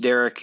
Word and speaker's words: Dereck: It's spelled Dereck. So I don't know. I'm sure it's pronounced Derek.